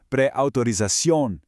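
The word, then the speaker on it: preautorización: Second, for a long word like pre-authorización, the stress almost always hits that last part, so it's pre-authorización.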